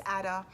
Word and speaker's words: Ada: So her name is Ada, which, you know, sounds like the word adder, which is a snake.